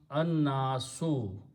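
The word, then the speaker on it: النَّاس: And when you pronounce them together, it becomes an-nasu. Al is not pronounced.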